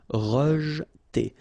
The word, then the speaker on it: rejeter: Okay, so here the E is not really pronounced, so you get rej. Okay, so E pronounced like E. Rejeter.